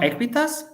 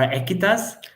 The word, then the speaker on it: Aequitas: So that's why we develop Aequitas or Aequitas. It really depends on how can you pronounce it.